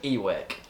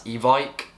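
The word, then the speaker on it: van Ewijk: would be wrong yes because I called him eweck um but then on FIFA they're pronouncing him as Evike so I'll be calling him from Evike from now on uh until I hear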